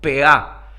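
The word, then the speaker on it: פאה: Preste atención, yo los voy a pronunciar como ellos lo pronuncian en hebreo y después los voy a ir explicando.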